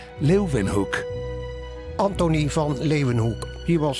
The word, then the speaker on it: Leeuwenhoek: L-E-Y, Leuven, se pronuncian con una B, Hoek, Leuvenhoek.